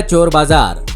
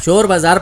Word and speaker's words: चोर बाजार: कि इसका नाम ही चोर बाजार पड़ गया। लेकिन पुराने जमाने में अंग्रेज शाह का उच्चारण चा से करते थे, इसलिए इसका नाम शोर बाजार की जगह चोर बाजार पड़ गया।